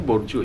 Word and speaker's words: Bourdieu: Bacanya Bourdieu ya. Beberapa versi sih.